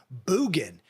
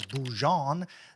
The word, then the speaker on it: Bjugan: I have Cody boogin I actually pronounced his name wrong on the actual episode I've always pronounced it as boujon the I don't know maybe that's the French or the the Louisiana way of pronouncing it I'm not even from